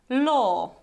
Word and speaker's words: law: And the proper pronunciation is law, saw, Warsaw. So you see, the trick here is that we don't pronounce this w at the end.